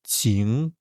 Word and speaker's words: 晴: 今天是晴天 so as you can see this one 今 this one 晴 very nasal sound.